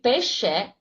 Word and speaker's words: Pesce: Larry Pesce actually is here with me. Did I pronounce it correctly? It sounds like Italian, so I should have done it right.